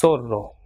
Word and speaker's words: zorro: Same way, ZONA will be pronounced as sona, and ZORRO will be pronounced as sorro, and ZUMO will be pronounced as sumo, and ZURDO will be pronounced as surdo.